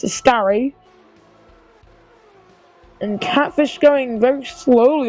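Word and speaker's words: Ascari: entire straight and then through a scar that's how you pronounce that now it's a scar and catfish going very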